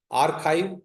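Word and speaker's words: arXiv: So for this like you see there are servers named by archive. XIV is the you pronounce it as Z or AR Z archive client.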